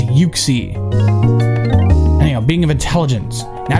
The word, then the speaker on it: Uxie: If anybody pronounces it Uxie, I want to punch you in the face. It's Uxie.